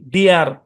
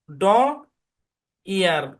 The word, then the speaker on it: deer: যেমন DEER উচ্চারণ কি? ডিয়ার। কি উচ্চারণ? ডিয়ার। দেখেন, ডি এর সাউন্ড এরকম। হ্যাঁ, আর ইয়ার তাহলে মিলাইলে ডিয়ার। কেউ এভাবে ভাইবেন না যে ড ইয়ার, হ্যাঁ ড ইয়ার এরকম কিন্তু না।